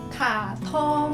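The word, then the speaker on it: 卡通: By the way, kartun di Mandarin itu kita bacanya katong. Ayo, Katong.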